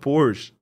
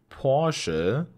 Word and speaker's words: Porsche: the way it's not Porsche the letter e at the end of the German words must be pronounced that's why we say Porsche not just Porsche Porsche Porsche Porsche